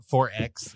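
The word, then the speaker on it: XXXX: 4X which is how they pronounce it.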